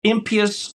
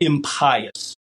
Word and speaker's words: impious: So impious, or it's pronounced impious, and in other parts of the country, impious, right?